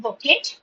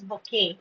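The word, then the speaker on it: bouquet: We don't pronounce it bet. It is bokeh. T is silent. Okay. So, it's it's a battalion of soldiers. So, battalion means an army. Then a block of flats, a pokey of roses, a colony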